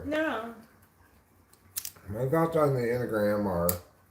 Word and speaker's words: Enneagram: But I've obviously finally given in and pronounced Enneagram, rather than how I used to pronounce it, Enneagram. Well, I read the word before I heard anybody say it, so I read it as it's spelled, Enneagram. But I just learned that's not how it's pronounced.